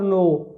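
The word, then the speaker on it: know: यहाँ देखें नो और नो, हालांकि यह के से शुरू हो रहा है, परेशानी होना, के से शुरू हो रहा है लेकिन के साइलेंट है, आवाज़ एन की आ रही है, न एन की आवाज़ आ रही, नो एंड नो।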